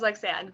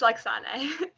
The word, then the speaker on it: Lexane: would love to hear your name so I pronounce it right. It's Lexane, but that's everyone says Lexane, but it's Lexane.